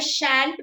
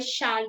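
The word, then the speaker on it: shan't: मतलब एक British English में और अमेरिकन इंग्लिश में थोड़ा सा प्रोनाउंसिएशन डिफरेंस होता है, तो इसको आई शैंट भी बोलते हैं, आई शांत भी।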